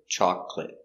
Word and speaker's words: chocolate: each one example chocolate it looks like chocolate but we don't pronounce this syllable so we pronounce it chocolate chocolate milk chocolate or